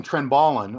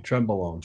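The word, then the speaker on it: Trenbolone: to pronounce it though you're saying trend ballin I believe tread bowl own tremble own tremble own tremble own okay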